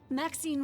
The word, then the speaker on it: Maxine: of most Exquisite varieties Maxine rhymes with Queen after all and dearest that is